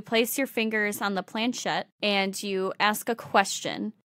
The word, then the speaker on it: planchette: What it comes with is a little teardrop-shaped device called a, I don't know how to fucking pronounce it. Planchette.